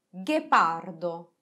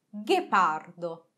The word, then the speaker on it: ghepardo: traghetto traghetto ghepardo ghepardo osserviamo che le parole margherita e ghepardo si pronunciano uguale sia in portoghese sia in italiano ma si iscrivono in maniera diversa in italiano con la g h e in portoghese con la jeep e e ora vi starete